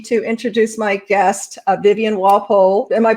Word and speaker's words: Walpole: Walpole? That is correct. Okay, not Walpole or something. Yeah, No. I didn't answer that before. Or war. Some people want to put an R in there. No R.